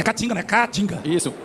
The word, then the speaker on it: Caatinga: Caatinga. Isso. Você fala Caatinga, você vai achar que tem boi morto lá. Não, as boizinhas tá tudo vivo. Eu tô vendo. Então, é Caatinga. Isso.